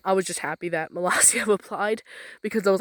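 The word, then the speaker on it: Molossia: Melasia, I think that's how you pronounce it. Melasia.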